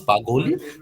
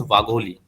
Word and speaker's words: Vagholi: customer says Bagholi. So basically, this is not a actual name. The actual name is Vagholi.